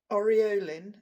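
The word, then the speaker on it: Aureolin: uh some titanium white this is oroline I think that's how you pronounce it that's a u r e o l i n I think that's right um because I need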